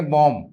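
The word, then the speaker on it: bomb: इसको हम बोलेंगे बॉम्ब। That is बॉम। बॉम B silent B silent here com lump मेमना है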